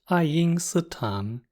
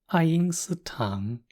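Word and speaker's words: 爱因斯坦: It's pronounced Einstein. It's Einstein. Sounds similar enough, right? Einstein.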